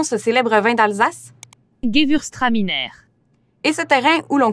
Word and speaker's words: Gewürztraminer: Comment prononce-t-on ce célèbre vin d'Alsace? Gewürztraminer.